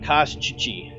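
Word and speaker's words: Kostchtchie: It is actually pronounced Kashchichi. Koshchichi. Nope, too many E's. Kashchichi. Only the last E is heard.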